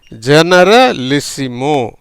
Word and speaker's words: generalissimo: ஜெனரலிசிமோ, ஜெனரலிசிமோ அப்படிங்கிற உச்சரிப்பில் வருது.